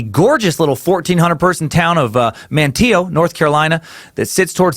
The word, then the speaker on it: Manteo: So I got someone sent in a North Carolina pronunciation guide, and you know what? I used it. Manteo, named after a big player in today's story,